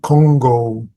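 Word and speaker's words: Kongō: Congo Diamond Sutra. That's the Japanese way of pronouncing the Chinese character.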